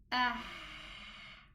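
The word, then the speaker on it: ح: If I want to know the Ha, I'll make a Hamza Fatha, pronounce a Hamza Fatha, and the Ha Sukun. Ah. You will feel the friction of the ha in the middle part of the throat.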